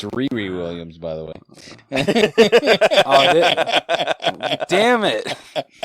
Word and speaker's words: Riri Williams: It's Riri Williams, by the way.